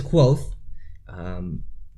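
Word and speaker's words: Kvothe: audio book discusses earlier but my name is quote precious what we decided is the correct way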